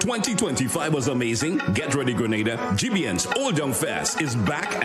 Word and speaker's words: Grenada: So, today, like we German say, we are in Granada. But I heard in English it's called Grenada.